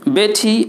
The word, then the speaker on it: Botter: Okay, বেটি বোটার had some বাটার। এখানে বোটার, BOTTER, এটাকে বলবেন বোটা। রসাউন্ডটা সাইলেন্ট করেন নিয়ম অনুযায়ী।